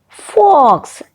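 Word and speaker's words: folks: had told that remember in the pronunciation of this word l is silent did you guess it yes the word is fox fox as i said it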